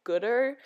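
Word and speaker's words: Goodr: Some eyeglass holder things and my sunglasses from the brand Gooder. They are pronounced G-O-O-D-R.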